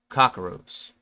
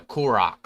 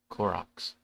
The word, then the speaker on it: Korok: The often elegant, magical Zora, which are still around, the proud and stubborn Goron, and childlike, innocent Kakaroos. Yeah, I guess that's how you pronounce them. No, Koroks, sorry. Koroks.